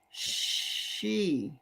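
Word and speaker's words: sídhe: oh oh it's pronounced she she she yeah Chi do you say chi Annie speak up dear speak up I can't hear you I say she just like she went to the store ancient closely related to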